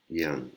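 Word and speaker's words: อย่าง: อ ย ่ า ง ไ ร Yang. Là, on entend descendre, hein, le son. L'intonation est différente, elle descend.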